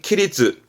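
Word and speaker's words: 規律: 발음은 키리츠, 키리츠.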